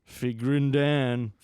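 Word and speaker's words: Figrin D'an: Figrin Dan.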